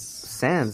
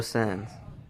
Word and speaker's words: Sanz: easier or NZ right I remember them pronouncing its sands Horatio son that doesn't mean the announcer from New York knows how to say a Spanish name you probably say it's